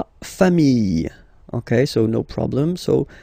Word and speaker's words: familles: Famille, singular form. Famille, plural form. Same pronunciation, S, not pronounced, okay?